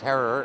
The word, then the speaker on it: Herer: My name's Herrer. It's pronounced Herrer, as in terror.